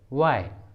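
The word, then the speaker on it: why: डब्ल्यू के बाद एच आता है तो एच साइलेंट होता है। For example what, what. When, when. Where, where. वाई, वाई, इन सभी इंग्लिश वर्ड में डब्ल्यू के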